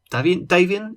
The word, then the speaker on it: Davian: What about you, Davian? Am I pronouncing that right?